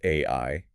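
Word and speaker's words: 愛: The word for love in Japanese is pronounced AI, spelled AI in the Latin alphabet.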